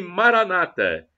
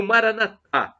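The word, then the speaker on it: Maranatha: Deus todo-poderoso ele proverá e Maranata como dizem os evangélicos ou protestantes ou Maraná com a tônica na última sílaba como dizemos nós católicos não importa somos todos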